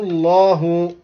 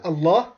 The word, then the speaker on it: الله: من حيث لا يشعرون فأذاقهم الله لفظ الجلالة الله تفخيم فأذاقهم الله تفخيم الخزي في الحياة الدنيا